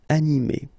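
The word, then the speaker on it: animée: here so a so in that case you will just add this final uh okay but then the thing is that you don't pronounce it so phonetically you will get exactly the same form so masculine form anime and then a feminine form anime okay you don't pronounce this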